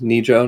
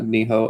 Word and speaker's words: Nijo: It's Nijo, not Niho, as I was mispronouncing it terribly because I forgot.